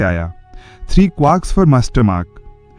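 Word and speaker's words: quark: Three क्वार्क्स फॉर मास्टरमार्क। क्वार्क शब्द क्वार्ट जैसा pronounce होता है लेकिन के साथ। लेकिन आमतौर पर लार्क जैसा बोला जाता है।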